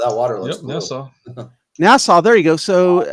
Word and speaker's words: Nassau: Nassau.